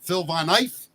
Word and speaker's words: Phil Von Eiff: Now I'm gonna screw up the pronunciation. Phil Von Eiff.